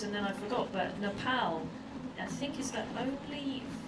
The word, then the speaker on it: Nepal: found out it was Nepal not the cuz it's not na AU well P not the name Paul it's p like your pal so they pronounce it